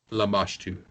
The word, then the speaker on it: Lamashtu: Like, they did not, and it was Lamashtu. And it was Lamashtu? Lamashtu, yes. Okay. Can you spell that?